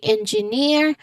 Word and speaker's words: engineer: So we say engineer with a voice clearly rising on the first not first but on the final syllable.